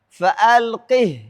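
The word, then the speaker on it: فألقه: Yang ketiga, hak dhamir pada kata fa'alqih ilaihim. Surah An-Naml ayat 28. Tidak boleh dibaca silah dan harus dibaca sukun walaupun dalam kondisi mewasalkan bacaan atau menyambung bacaan.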